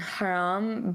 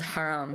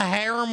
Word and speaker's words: haram: like, oh, this is haram, so. Haram Whopper. Yeah, I would say it wrong. Can I get the harem Whopper, please?